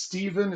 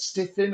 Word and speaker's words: Stephen: However, it is Stephen, it's not stiffin or chiffon or stuffing or anything like that.